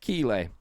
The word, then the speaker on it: Keighley: Okay, Geoff Keighley, not Keighley, not Keighley either, or whatever other name you want to pronounce it.